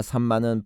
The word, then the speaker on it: 삼마: 시므아와 삼마는 발음 차이에 불과합니다. 히브리어는 시므아와 같이 마지막 철자가 아로 끝나는 아인의 경우 그것을 발음하지 않습니다. 그것을 문법적으로 목에서 나는 소리이기 때문에 후음 문자라고 합니다. 대신에 그것을 보충하기 위해 앞에 자음을 중복합니다. 즉 시므아에서 아가 탈락되는 대신에 미음을 중복시켜 삼마가 되는 것입니다. 그러므로 히브리어 발음 원칙에 의하면 시므아가 정확한 철자이고 삼마는 소리 나는 대로 철자를 적었을 가능성이 높습니다.